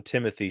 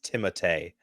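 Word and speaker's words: Timothée: he pronounces so he he tells people to call him Timothy shalam and but his the real pronunciation is timate timate I knew it was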